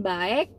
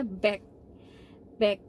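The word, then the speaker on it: 박: tulisannya e Tapi bacanya bukan baik Tapi bacanya bak-bak kayak gitu jadi misalnya nama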